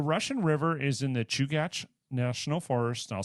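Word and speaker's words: Chugach: but um the Russian river is in the chugat National Forest I'll spell that for you so it's c h u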